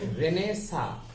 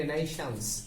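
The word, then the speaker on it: Renaissance: তোমরা জানো যে রেনেসা আসলে লিখতে গেলে হয় রেনাইশান্স, কিন্তু ওটা ফ্রেঞ্চ ওয়ার্ড, ওটাকে স্কুইজ করে করা হয় হলো রেনেসা। তাহলে এটা কনইজা মানে কনইজার্স, আমরা কনইজার্সই বলবো।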